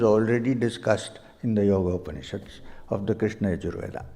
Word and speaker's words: Upanishad: Upanishad. 3 syllables. Upanishad.